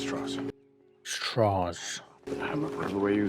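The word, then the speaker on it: Strauss: was too right I believe Mr TR it's pronounced straws straws the way you say they know I'm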